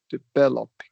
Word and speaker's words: developing: And and developing is a great illustration of only one syllable's getting any emphasis. Right. We're not saying developing. We're developing very All these others are very very quick.